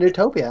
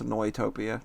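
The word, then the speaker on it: Neutopia: it's just monster Brendan nutopia actually people keep saying nutopia when it's pronounced annoy topia just saying no a topia yeah that sounds made-up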